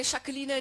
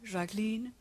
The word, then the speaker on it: Jacqueline: auch viele aussprechen jacqueline wobei aquilina die völlig falsche aussprache ist es heißt ganz normal jacqueline nicht jacqueline ganz normal jaqueline ich meine es heißt ja auch pipeline und ich bediene aber bei